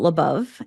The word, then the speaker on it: Labov: way all right hello I'm labov and rhymes with love I always tell people and um yeah